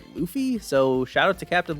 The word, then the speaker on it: Luffy: how to pronounce this I've been reading this guy's name as Luffy for years but apparently it's Luffy so shout out to